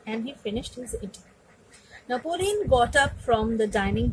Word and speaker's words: Napoleon: that someone pronounce it Napoleon Bonaparte. But the proper pronunciation is Napoleon. It's Napoleon. It's not Napoleon, because he is a French person, and in French the pronunciations are quite different from English.